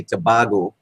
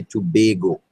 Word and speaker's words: Tobago: All right, so if you come here and pronounce it like it's original tobacco and say Tobago, you've immediately identified yourself as a foreigner. So to be sounding like a local, you have to say Tobago.